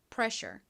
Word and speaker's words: pressure: 같이 발음 연습해 볼게요.이 단어는 앞부분 pr 부분에 강세가 있습니다. pressure.